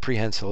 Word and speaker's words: prehensile: And the definition of prehensile is, I use it like a hand.